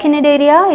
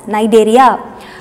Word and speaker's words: Cnidaria: I told you shouldn't pronounce like Cnidaria. It is C is silent, so pronounce it as Cnidaria.